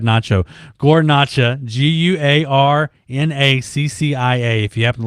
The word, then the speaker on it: Guarnaccia: his last name is hard to spell it's pronounced guar nacho nacho i said nacho gornacha g-u-a-r-n-a-c-c if you happen to listen to us